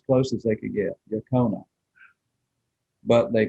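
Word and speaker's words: Yocona: what they heard and they pronounced it the way they heard it yakni they didn't get to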